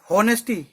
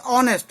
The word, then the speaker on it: honest: इसने कहा होनेस्टी। सबसे पहले तो ये समझ लो HONEST जो वर्ड होता है उसको होनेस्ट नहीं बोलते, उसको कहते हैं ऑनेस्ट, जिसमें H साइलेंट होता है।